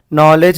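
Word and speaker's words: knowledge: नॉलेज में क्या आ जा रहा, K साइलेंट हो जा रहा।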